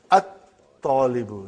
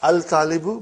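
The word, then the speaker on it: الطالب: And then, at-talibu, not al-talibu, but at-talibu.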